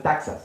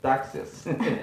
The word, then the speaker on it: taxes: Se escucha como que se dice taxas, ¿verdad? Pero no es taxas, es taxes.